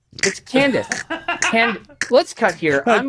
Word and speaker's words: Candace: It's Candace.